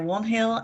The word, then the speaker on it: Wainhill: Wanhill, yeah, sorry, I'm terrible with pronunciations. are you there? Good afternoon, everybody. So my name is Warnhill and I'm the Access Planner at City of Port Phillip.